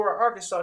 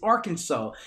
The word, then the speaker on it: Arkansas: that I said it's Arkansas they said yeah but it's spelled like Kansas but they put AR in front of the Kansas I'm like that's not